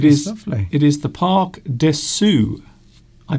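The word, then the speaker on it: Parc de Sceaux: It is the Parc des Sceaux. I pronounced it wrong earlier.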